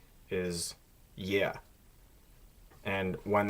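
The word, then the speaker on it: е: Next is yeah. And this looks like an E, but it has the yeah sound to it.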